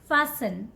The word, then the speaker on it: fasten: don't call it fasten T is silent here okay so call it fasten fasten this one very